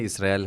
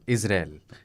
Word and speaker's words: इसराइल: इजराइल हमने हिंदी में लिखा पढ़ा, बाद में इसराइल हम इजराइल हो गया। इजराइल हिंदी वालों ने उसका उच्चारण सबका खराब कर रखा है।